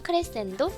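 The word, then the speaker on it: crescendo: 읽을 때는 크레센도, 데크레센도라고 읽습니다.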